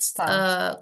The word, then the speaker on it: thought: Jadi yang ini bacanya adalah thought, thought, Thought. thought. Thought. Nggak ada Thought. A-nya, thought. Thought. Ya, kan ini OU ya, thought.